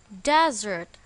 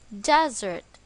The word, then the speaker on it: desert: it is pronounced as desert the stress is on the first syllable desert as a verb the